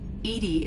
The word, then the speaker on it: EDI: are you named Edie Edie is the is the phonetic pronunciation of EDI that is an acronym